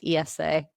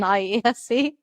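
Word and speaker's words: IESE: Yeah, and I've incidentally learned a new thing, which is that it's pronounced ESA rather than IESCE.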